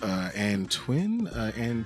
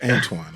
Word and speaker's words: Antoine: see my name, they're like, Antoine, Taiwan. No, it's Antoine, okay?